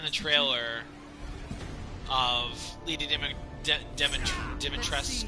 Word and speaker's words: Dimitrescu: trailer of Lady Dimitrescu. Let's see how special I guess is you her are. name now, because apparently the U is silent.